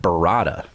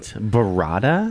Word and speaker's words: burrata: ahead and then they have this thing called burrata which I'd never heard of the Star Wars